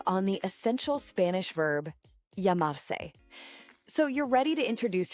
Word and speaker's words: llamar: This is the brief on the essential Spanish verb yamar. So you're ready to introduce yourself in Spanish, right? Well, this is the verb you need. Yamar.